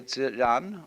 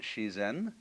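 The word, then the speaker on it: 自然: Dai ziran, or the Japanese pronounce it shizen, is roughly when they point to all the things happening around us, that's ziran.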